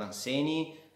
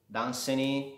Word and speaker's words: Dunsany: Oggi parleremo di Lord Anseni o Danseny, si pronunciano in entrambi i modi, l'ho sentito. Danseny dovrebbe essere la forma corretta, quindi noi utilizzeremo questa.